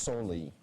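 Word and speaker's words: soli: would also have accepted s-o-l-i which is pronounced solely going for a 10-point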